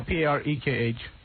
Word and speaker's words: Parekh: Spell that. Potache. P-A-R-A-K-E? No, P-A-R-E-K-H.